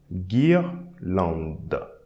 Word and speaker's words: guirlande: We are not going to pronounce the ES, but instead we pronounce the D. Guirlande.